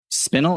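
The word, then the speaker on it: Spinel: Well, it's spelled S P I N E L, right? Sp I N E L. Yes. Cuz spinal is with an A.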